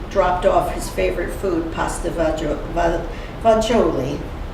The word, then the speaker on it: pasta fagioli: off his favorite food, pasta fagioli. Is that how you say it? Or as they say, the Italian dialect, pasta fazool, that's how we said it.